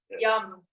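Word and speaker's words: Yam: Yum. It looks like y a m and it's pronounced with an uh so you're right.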